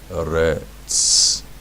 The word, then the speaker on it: Eretz: Remember, it's T-S, T-Z, right? Eretz.